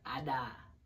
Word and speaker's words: Ada: name Ada by the way that's how you pronounce my name Ada that's how you pronounce it Ada what is your least favorite food least favorite